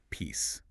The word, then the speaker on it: peace: That voiced Z sound is what separates it from the word peace, as in global tranquility, the absence of war. That word is pronounced with a voiceless S sound.